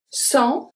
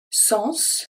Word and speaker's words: sans: Sans responsabilité. So, sans, we don't pronounce the final S, I don't say sens, don't say that.